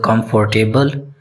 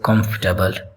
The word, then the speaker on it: comfortable: Many people mispronounce it as comfortable, but its correct pronunciation is comfortable.